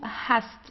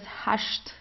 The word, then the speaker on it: hast: it also Do Hast so here you see you have an st at the end of the word so you pronounce it the normal way Do Hast uh in southern Germany we have um we have some dialects where you would pronounce it as hashed okay like in theab schwabenland